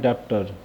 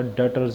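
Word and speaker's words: debtors: है डीबीटी टो आरएस इसको कई बच्चे बोलते हैं डॉक्टर यहां पर यही चीज में बता दूं इसका नाम डॉक्टर नहीं होता डेटर्स होता है बीच-बीच में साइलेंट रखे हैं हम इनको चीज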